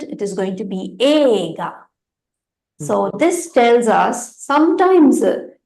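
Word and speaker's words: 映画: So we will read it as Eiga, right? But actually, the pronunciation is different, right? We will pronounce it as ega. E will not be there. It is not eiga. It is ega.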